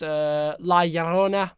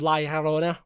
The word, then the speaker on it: La Llorona: La Llorona. I said that right. Or The Curse of La Llorona.